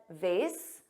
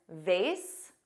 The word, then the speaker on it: vase: Now notice I said vase. Both pronunciations vase which rhymes with face, and vase which has an aw but AZ sound.